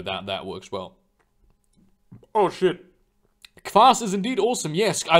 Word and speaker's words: Kvass: This, like, you know, I have a Russian friend, and he, you know, Kvass is like it's spelled Kvass, right? It's Kvass. So obviously, I will call it Kvass, not Kvass.